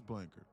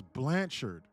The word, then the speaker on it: Blanchard: Okay, so it is Blankard. No. Hold up, I know their last name. Hold on. It's Blanchard. Matt Blanchard. Bro, it's Matt Blanchard. That one. Bro, I've been saying your name wrong for the last 2 months.